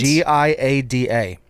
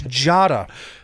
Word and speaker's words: Giada: wife with Jada De Laurentiis?